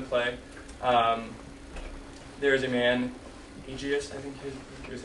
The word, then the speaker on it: Aegeus: There is a man, Aegeus, I think is how you would say his name.